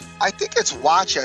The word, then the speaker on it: Wacha: I think it's Wacha is how they pronounce it, but you could be right. Waka Flocka. Waka. Kid. Yes. That's how it is?